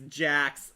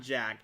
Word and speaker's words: Jax: It's Jax, not Jack. Spelled with an X, not a CK. Kind of like Mortal Kombat's Jax.